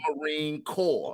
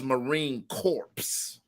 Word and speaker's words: Marine Corps: suit corpse instead of Marine Corps like a corpse like referring to a dead body the mispronounce the mispronouncing of Marine Corps as Marine corpse okay uh these are